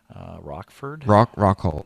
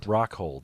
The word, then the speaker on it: Rockhold: I always get his last name wrong. Rockford? Rockhold, that's what it is. Yeah, I called him Rockford.